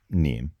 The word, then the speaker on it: Nîmes: And Nîmes is spelled N-I with a circumflex M-E-S. But it's pronounced Nîmes.